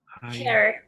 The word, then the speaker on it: hair: Hair. Hair. Yes, correct. That's right. Very good. Y como bien, creo, me parece que fue Stephanie, lo pronunciamos sin la I, ¿no es cierto?